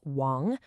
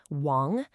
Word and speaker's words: 亡: It's pronounced chu and it simply means the lips. Next up, we have Wong. Wong.